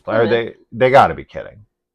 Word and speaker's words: Plymouth: I mean, Plymouth is like what it looks like. It looks like phonetically. Yeah. But everybody knows it's it's Plymouth.